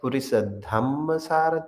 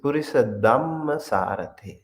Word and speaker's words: purisa: this one this word some people pronounce as purisa which is incorrect this is purisa excellent unparalleled taming the